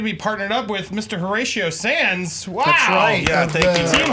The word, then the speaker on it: Horatio: Horatio Sans wow team Horatio Horatio pod Show podcast I say it right yeah you said it perfectly okay cuz it spelled kind of like huray it's ratio Hur ratio it's ratio show yeah see okay I